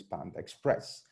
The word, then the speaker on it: pandex.press: So they registered pandex.press, pronounced together as Panda Express.